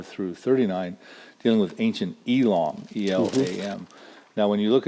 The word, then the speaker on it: Elam: that I will bring again the captivity of Elam, saith the Lord. That's spelled E-L-A-M, Elam.